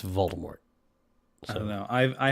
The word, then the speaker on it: Voldemort: that's so funny except According to Jim Dale it's Voldemort not Voldemort but according to Stephen Fry and JK Rowling it's Voldemort I don't know I